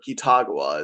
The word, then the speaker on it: Kitagawa: This is Yusuke Kitagawa or Kitagawa as they like to pronounce it.